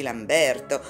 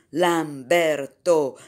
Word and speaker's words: Lamberto: pronuncia un'idea e poi bisognerebbe avvertire la signora zanzi di non tenere così lunga la seconda sillaba di lamberto smorzando la terza nel risulta un effetto di belato bebè che bisognerebbe evitare